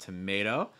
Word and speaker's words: tomato: is like to tomato really making sure that the second syllable is strong all right other questions